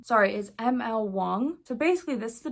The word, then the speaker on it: Wang: fantasy oh I just realized I said her name wrong sorry is ml Wong so basically this is a Japanese inspired fantasy